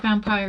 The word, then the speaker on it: Vampyr: Um, but yeah, it's spelt like Vampyr, and that's literally just what it's called.